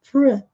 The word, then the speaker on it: fruit: E para dizer frutas em inglês é muito interessante porque nós não pronunciamos a letra I, nós dizemos fruit, ou então fruits.